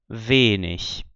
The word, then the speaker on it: wenig: com CH, esse som, mas quando a palavra termina em IG, no fim de sílaba ou fim de palavra, você vai ter esse sonzinho, o mesmo som do CH de ich.